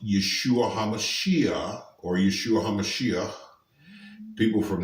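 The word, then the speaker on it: ישוע המשיח: learned it but his name in Hebrew is pronounced Yeshua hamashiach or Yeshua hamashiach people from that area usually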